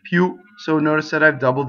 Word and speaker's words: più: Più is a strong monosyllable ending in an accent. Più.